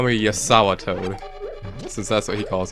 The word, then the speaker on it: JazawaToad: Also, And- you may want to call me JazawaToad, since that's what he calls me. Yeah, I pronounce my J's as Y.